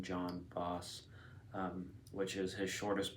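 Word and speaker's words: Jon Fosse: past year I read Yan vas which I've been pronouncing John boss um which is his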